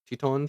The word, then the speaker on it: Teton: So, we went to Yellowstone and I always say the name wrong. Grant Teen Grant. Some people say Tetons. Tetons.